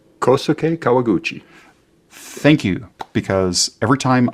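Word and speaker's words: Kohsuke Kawaguchi: KK Mark say his name for me correctly kosuke kawaguchi thank you because every time I butcher it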